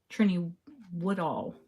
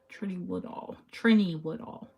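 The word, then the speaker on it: Trinny Woodall: And the lady, Trini Woodall, yeah, that's how you say her name. Trini Woodall.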